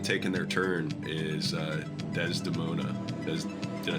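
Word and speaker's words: Desdemona: one that hasn't taken their turn is uh dez demona did i say it right that time you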